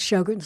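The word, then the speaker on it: Sjögren's: of something is called Shin's disease uh we'll put that in the description it's spelled SJ o g r NS um it's pronounced shog like sh but SJ is the beginning shog is something that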